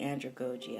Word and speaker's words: andragogy: So I'm going to say andragogy. I like the long O pronunciation.